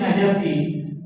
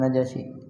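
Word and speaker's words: نجش: dilarang adalah jual beli najasi Nabi Sallallahu Alaihi waa alihi wasallam B bacanya najas Ya bukan najasi najas di anara jual beli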